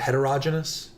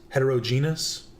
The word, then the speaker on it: heterogeneous: Did I say it right? Heterogynous. Heterogeneous. Like I know that's the right word.